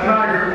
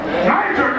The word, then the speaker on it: Niger: teachers that was called they pronounce Niger or ner n i g e r has anyone heard of